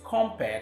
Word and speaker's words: compere: Remember, these 2 words are pronounced differently. The first is compare, the master of ceremony.